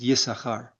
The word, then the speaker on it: Issachar: There's two s's, but but usually we pronounce it Yesahar.